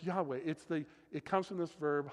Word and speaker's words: Yahweh: We add vowels to try to pronounce it. But it's this incredible name of the presence of God, Yahweh, from which we change it to get Jehovah. But it's Yahweh.